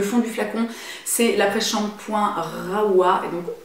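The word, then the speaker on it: Rahua: C'est l'après-shampoing Rawa, et donc maintenant je sais que ça se dit Rawa parce que j'ai eu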